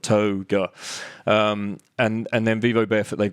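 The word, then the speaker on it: toega: T-O-E and then ga, like yoga, but toga.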